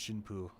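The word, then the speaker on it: しんぷ: Oh, the joke with May there is that priest and bride are both pronounced shin poo.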